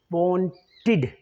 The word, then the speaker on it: wanted: It should be wanted, id. The rule says if a word ends either with t sound or d sound, in this case, want the t sound, right? Then the pronunciation of that verb should be id, not d, id. So wanted, no, it's wanted, right?